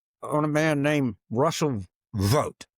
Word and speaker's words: Vought: And I'd like to focus today on a man named Russell Vought. It's pronounced V-O-T-E. It's spelled V-O-I-G-H-T.